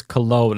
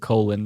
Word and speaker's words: Cologne: I believe it's Cologne. I think I said colon.